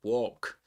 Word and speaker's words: walk: It's a shorter O. In British English, it's walk. American English, walk. You may even get walk. Let me see if I can give you that pronunciation. Walk. There you have it. Walk. No L, right?